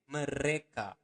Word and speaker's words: Mereka: Remember to pronounce the R clearly. Mereka.